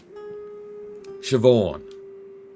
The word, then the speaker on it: Siobhan: Siobhan, outright, it doesn't have a V. It says as if prison shiv, but there's a B in there.